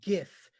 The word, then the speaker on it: GIF: knows how you pronounce GIF, and that's GIF. Everyone, GIF. Did you hear me? GIF. All other answers are wrong. It's GIF, as in Jen Giffen.